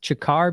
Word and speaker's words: Ciccar: right inside there and it is pronounced chakar because mike is his last name chicarello uh-huh that's he kind of